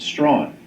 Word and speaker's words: Strachan: And that's why in Canada, America, Australia, and elsewhere, the name is most popularly pronounced Strawn.